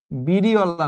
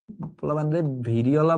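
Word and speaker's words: Variola: বিড়িওলা না ভিড়িওলা। ভিড়িওলা বললে শুনে খালি বিড়িওলা। ভিড়িওলা ভাইরাস বা ভেরিওলা ভাইরাস। যা ইচ্ছা উচ্চারণ করো।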